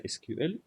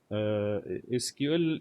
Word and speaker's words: SQL: SQL in many places they call it SQL. Some people pronounce it like this, SQL, but I prefer to say SQL.